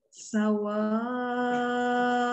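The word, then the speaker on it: سَوَاءٌ: Sawa'un. Jadi ketuanya nih. Tidak sawa, dibuka dulu saja. Sawa. Sawa. Tidak sawa. Umi terbacanya sawa. Tidak ditasdid wawunya ya. Sawa, bukan sawa.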